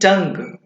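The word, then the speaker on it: tongue: हिंदी में लिखने वालों लिख लेंगे कि यदि कोई शब्द GUE से अंत होता है तो उस स्थिति में भी यू साइलेंट होगा। एग्जाम्पल देखेंगे आप, टंग, एग्जाम्पल क्या है आपका, टंग।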